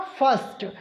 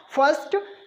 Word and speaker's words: first: वावुल letter नहीं आया, तो आर को हम लोग यहाँ पर साइलेंट रखेंगे और हम लोग इसको क्या पढ़ते हैं? फर्स्ट। क्या साउंड प्रोड्यूस करते हैं इस वर्ड का? फर्स्ट।